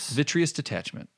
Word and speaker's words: vitreous detachment: you have to help me out with this pronunciation, vitreous detachment.